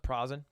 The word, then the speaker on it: Prozen: It's pronounced Prozen. Prozen. Perfect.